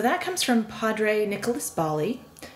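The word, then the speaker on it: Ballí: So that comes from Padre Nicholas Bali, sometimes pronounced Bai.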